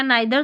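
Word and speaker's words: neither: यहाँ पर नाइदर, आई उच्चारण, इसको नीदर या नाइदर दोनों तरीके से पढ़ सकते हैं।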